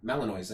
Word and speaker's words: Malinois: Malinois? Let me see. Belgian Malinois? Yeah, so they had those dogs since birth. Oh, yeah, you said it right. Belgian Malinois.